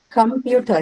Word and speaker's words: computer: another important thing uh computer computer where do you mark the stress you computer yes so the second syllable right computer comes from